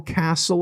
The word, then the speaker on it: castle: If you can spell castle, and remember there's a silent T in there. Sorry. It is a silent T. Castle. You don't say castle. It's castle.